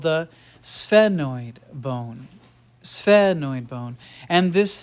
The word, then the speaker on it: sphenoid: for Simplicity so annoyed just make an S like hiss like a snake and then go sphenoid phenoid and so this